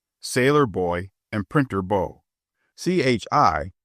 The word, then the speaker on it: Chi: Chi, pronounced shy, by the way, is the argot for Chicago.